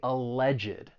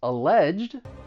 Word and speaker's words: alleged: for the alleged crime so the stress is going to be on that second syllable but you may hear some people add an extra syllable because of the e d and they're going to say alleged and then it becomes three syllables and I think that may be more common in the US but but let's hear both so you can hear the the two syllables alleged he is hereby